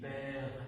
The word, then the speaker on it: père: Ici, je dis père, je ne dis pas père-eux, non, je dis père, donc le E ne se prononce pas.